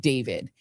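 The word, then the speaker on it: d4vd: So, this is this young uh singer named David. He it's spelled D4 VD.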